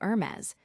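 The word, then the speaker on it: Hermès: this when in fact the correct pronunciation is closer to Hermes with a soft almost swallowed H.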